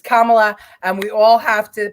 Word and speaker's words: Kamala: panel um because of the way she pronounces uh the name Camala Harris or it's Kamala it's Kamala and we all have